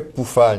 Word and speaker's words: Pufahl: TR ok sur pufal le son u en allemand se prononce ou alors ça fait poufal mais ici si tu